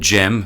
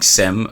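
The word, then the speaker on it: Cem: Called Jem, who I've been calling Sem for you're a not while. the first, Kris. Because it's spelt C-E-M. Yes, and C is G. In... That's Yes, Turkish, that's it.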